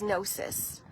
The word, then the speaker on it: gnosis: And the word is nosis.